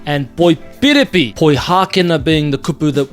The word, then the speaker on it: poipiripi: They are poihākena and poipiripi. Poihākena being the kupu that we use for Sydney, as in Sydney, Australia, and poipiripi being the word that we use for Melbourne, down in Victoria.